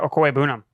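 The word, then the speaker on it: Okwuegbunam: Albert Okoye-Bunam.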